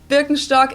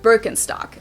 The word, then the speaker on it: Birkenstock: like if you talk about something typically German Birkenstock is definitely going to be mentioned but of